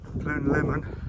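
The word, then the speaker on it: Pumlumon: on the way up to Plume Lemon. That's how you pronounce it.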